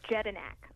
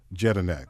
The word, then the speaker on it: Jedinak: Sure, it's Jedinak. Jedinak. Okay, that's just like it's spelled.